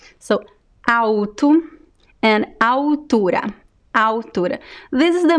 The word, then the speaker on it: alto: words we don't say alto no there is no l sound in this word au tu so it's the same